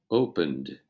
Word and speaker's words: opened: The ending of all other regular verbs is pronounced as one syllable when ed is added. So, for example, the simple verb open, to open. To create the simple past tense, we would simply add ed and pronounce it I opened, you opened, he opened,